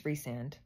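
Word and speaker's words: Rhysand: I loved when Rand I know it's reand I okay I I butcher these names but I don't care in my mind he's Rand so I'm going to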